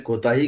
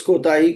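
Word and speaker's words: کوتاهی: तो किसी भी चीज के शॉर्ट रह जाने के सेंस में कोताही का लफ्ज हमारे यहाँ बोलते हैं। ठीक है, उस कोताही का सही प्रोनाउंसिएशन कूताही है असल में, फारसी वालों के यहाँ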